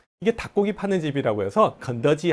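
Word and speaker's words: 肯德基: 肯德基 켄터키, 켄터키 비슷하죠, 그죠? 여자 발음입니다.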